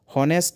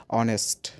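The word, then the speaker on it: honest: আমরা যদি সেটাকে হনেস্ট হিসেবে সাউন্ড করি তবে কিন্তু সেটা রং। আপনারা যদি এটাকে হনেস্ট বলেন এইচ ও এনই এস টি সেটা রং হবে প্রনাউন্সিয়েশন বিকজ এটার পারফেক্ট প্রোনাউন্সিয়েশন হচ্ছে অনেস্ট।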